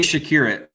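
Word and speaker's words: Przekurat: How do you say it, Ronnie? Jay Shakurit. Okay. I don't know how we get there, but that's how it's said. That's how it's Jay Shakurit. I don't know how we get there either, because it's a P-R-E-Z, but I love it.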